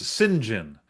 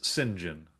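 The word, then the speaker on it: Cyngn: Apparently, he says it's pronounced Singen, the company. So, if you want to know how to pronounce pronounce C YNG, apparently it's Singen.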